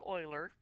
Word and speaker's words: Euler: And before you say Euler, it's pronounced Euler.